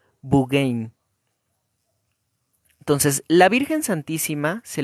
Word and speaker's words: Beauraing: llama ve a Orange así se escribe y que en belga se lee como bugain entonces la Virgen santísima